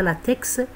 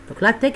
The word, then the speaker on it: LaTeX: grecs c'est à dire on prononce pas le hic c'est pas latex c'est la texture procession grecque l'ateq est un logiciel libre